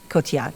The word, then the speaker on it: Cotillard: Cotillard? I'm going to say it wrong. Cotillard, no D. You don't say the D?